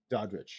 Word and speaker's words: Daudrich: I.